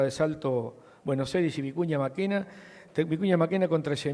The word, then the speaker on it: Vicuña Mackenna: la invencible cerca de salto bueno se dice vicuña mackenna técnico ya máquina con traje 1700 kilos de